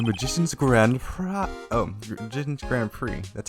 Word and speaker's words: grand prix: grand prize oh didn't grand prix that's how it's pronounced right yeah yeah friend french because the x is silent held by the association